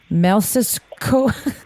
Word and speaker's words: Mleczko: However, I found AJ Mel, I can't even pronounce the last name, Melsisko.